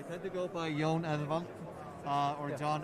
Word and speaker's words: Eðvald: It's not printed here, but it's a special kind of D in the Icelandic language, right? It is called an F. F. The way I pronounce it is Jón Eðvald. Eðvald. Like a soft TH sound.